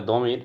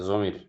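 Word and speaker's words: ضمير: নামের পরিবর্তে যেমন মাহমুদ ওইতো দোয়া দিয়ে পড়লে দমির। জোদ দিয়া পড়লে জমির। জমিরই বেশিরভাগ উচ্চারণ করে আর কি।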